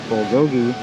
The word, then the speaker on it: bulgogi: this time how to say it right it's bulgogi nachos the winner i guess the best dish